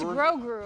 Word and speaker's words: Grogu: It's Grogu. Grogu? Grogu? No idea how it's pronounced.